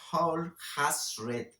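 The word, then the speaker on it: Alhazred: Y si se dan cuenta, Abdul al-Ashred, pareciera que al-Ashred en inglés se pronuncia Hol-Hashred, que quiere decir Hol es todo, Has-Red, el que ha leído todo.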